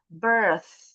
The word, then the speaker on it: birth: Jadi harusnya pat karena ujung lidahnya enggak keluar bunyinya nanti pat terutama birth. Birthday kalau ujung lidahnya enggak keluar bunyinya jadi birthday.